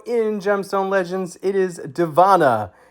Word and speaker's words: Dziewanna: It is Deanna. Yes, I know that's a lot of letters there, but that is how that is pronounced.